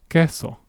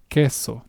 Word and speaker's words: queso: I can look at it like this, queso. This is how it's pronounced queso. So, keep that in mind. The letter Q or C is pronounced as a K in Spanish.